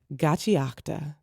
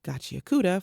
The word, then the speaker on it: Gachiakuta: Gachiakta, which I was mispronouncing as Gachiakuta for way longer than I'd like to admit.